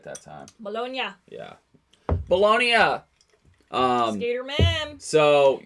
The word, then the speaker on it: Bologna: Bologna.